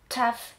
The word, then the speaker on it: tough: I to są słowa takie jak love, tough, enough, albo cough. Zawsze warto sprawdzić wymowę. Pamiętajcie, g, h na końcu czytamy jak f, albo nie czytamy go wcale.